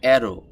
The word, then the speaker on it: arrow: অ্যারো, অ্যারো শব্দটির সঠিক উচ্চারণ হবে অ্যারো। অ্যারো স্পেলিংটা কেমন হবে? ARROW। তো এটাকে আরটাকে এভাবে বললেও হবে আর আর, অ্যারো, অ্যারো, এভাবে করে বললেও হবে, দুইটাই রাইট।